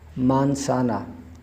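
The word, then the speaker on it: manzana: मानसाना एम एन मान, मान। जेड और ए सा, एन और ए ना, मानसाना, मानसाना।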